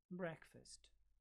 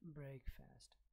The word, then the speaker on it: breakfast: So it is pronounced breakfast, not breakfast.